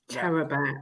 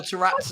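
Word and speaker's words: Taarabt: only the Turkish amongst us can pronounce Adel Tarat's name Say properly. it. Tarab.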